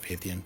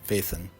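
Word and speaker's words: Phaethon: of ien named uh I believe it's pronounced fath faithon faithon that's what it is not fathan faithon and how you acquire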